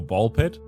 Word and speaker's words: Ball x Pit: And hello, and welcome into Ballx Pit. Or Ball Pit. You know, sometimes you don't pronounce the X, I guess.